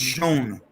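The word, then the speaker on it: Schoen: And by the way, guys, it is pronounced Shone. Showing? Not Sean? Shane, Shone. Joe Shone.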